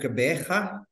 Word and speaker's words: Gqeberha: I'm in a place that very few English people will be able to pronounce. It's called Gqeberha, but it used to be the old Port Elizabeth.